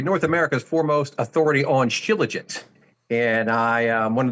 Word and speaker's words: Shilajit: I pronounce it Shilajit.